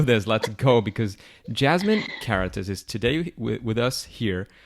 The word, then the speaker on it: Karatas: Because Jasmin Karatas is today with us here for many reasons,